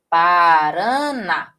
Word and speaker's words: Paraná: de palavrinhas oxítonas, né, são aquelas palavras em que a sílaba tônica vem na posição um ou na última posição. Exemplo, parana.